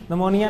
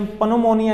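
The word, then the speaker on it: pneumonia: पढ़ते हैं सही हो जैसे nammonia है namonia ने पानो मुनिया नहीं पढ़ते शुरू में पी है ठीक है तो इसी तरह यह कुछ चीज साइलेंट हो जाती है ठीक है रब भी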